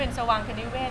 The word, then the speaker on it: สวางคนิเวศ: ออก เสียง แปลก ๆ ออก เสียง ก็ สว่าง นะ คะ ก็ เป็น สวางคนิเวศ ซึ่ง ความ หมาย ก็